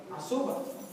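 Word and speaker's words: עזובה: Y desamparada, la palabra hebrea es azuba. Entonces pronuncien asa, azuba.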